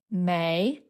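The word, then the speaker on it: 梅: Although mei is third tone mei our character for plum blossom is second tone mei. This is quite common. It's only a hint after all, not an exact match. mei hua plum blossom dong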